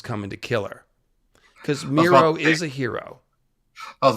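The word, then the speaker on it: Mero: Um, but ultimately, if we're looking at archetypes, yeah, Miro is a hero. His name even rhymes with hero.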